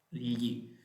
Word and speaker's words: gli: That is difficult to pronounce. It's a GLI, gli.